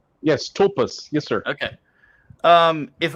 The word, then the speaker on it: tulpas: of myth confront dark cyberspace entities known as talpas did i pronounce that correctly yes tulpas yes sir okay um if i try to